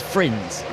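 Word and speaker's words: Frijns: Now, is it Frins or Frins? Because half people tell me it's Frins, and half people say it's Frins. I've been told that the Dutch pronunciation is Frins.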